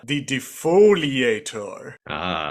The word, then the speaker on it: defoliator: And the separatists are also testing a weapon that can destroy organic matter but leave droids unharmed, called the defoliator. Is how it's said.